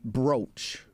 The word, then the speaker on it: brooch: and kind of uh traditionally if you want to it's brooch it's spelled broach b-r-o-a-c-h even though technically you guys are